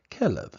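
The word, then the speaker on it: כלב: is actually in hebrew would be pronounced as a v so kelev and it's the hebrew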